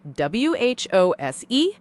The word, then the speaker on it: whose: It is the battle between W-H-O-S-E and W-H-O''S. Whose versus whose. They sound exactly the same when you speak.